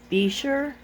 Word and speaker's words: Bichir: I have looked it up and it says that it's supposed to be pronounced Bichir, but it doesn't roll off the tongue so easily for me. So I've been calling it Bichir.